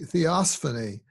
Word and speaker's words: theophany: what was it it was theosophy dolphining the theophany yeah it's the spell it for us and then defined as if